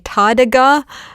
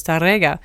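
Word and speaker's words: Tárrega: if there's an TGA there's an accent on the E but there's no accent it's on the a so it's TGA I not even Spanish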